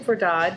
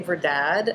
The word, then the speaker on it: Verdad: is it verdad or here's how do you pronounce that well I'd say for dodd but some people say for dad and it would be saying to be it's verdad but it's all good it's all good it